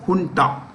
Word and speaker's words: junta: of people who run the country is called Junta j-u-n-t-a I repeat j-u-n-t-a Junta is spelled it's spelled Junta but pronounced junta okay